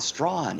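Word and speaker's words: Strachan: that absolutely i'll uh i know how to properly pronounce queen's key and strawn that's like extraction yeah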